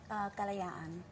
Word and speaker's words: Kalayaan: We have to ask, how do you pronounce the title of your book? Kalayaan.